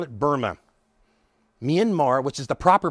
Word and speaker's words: Myanmar: Myanmar, which is the proper pronunciation, Myanmar is what the military regime called it.